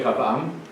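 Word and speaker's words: רחבעם: Rehoboam, in Hebrew you say Rehavam, which means a wide nation.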